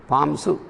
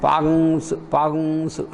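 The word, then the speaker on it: pāṃsu: So it is, the word is pamsu, pamsa, pamsu is pamsu. So while sometimes during our utterance we listen it as pagungsu, like that.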